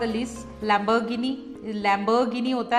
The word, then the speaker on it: लैम्बोर्गिनी: लैम्बोर्गिनी होता है, लैम्बोर्गिनी नहीं होता।